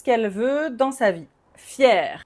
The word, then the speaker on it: fier: Fier, même prononciation.